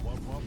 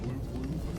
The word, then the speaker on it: wub wub: Pronounce wub wub, not whoop whoop.